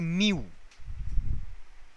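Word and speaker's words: μ: সিম্বলটার একটা নাম আছে নামটা জানো যেটা দিয়ে প্রোনাউন্স করি না স্যার এটাকে বলে মিউ মিউ এই সিম্বলটার নাম হচ্ছে মিউ মিউ ডব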